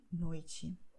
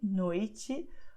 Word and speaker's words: noite: And one very important phenomenon is the fact that the letter E at the end of the word will be pronounced as I, just like in tarde, noite, okay?